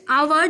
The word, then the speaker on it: hour: This I have told you children that hour, though the spelling is starting with H, but the sound of H is silent.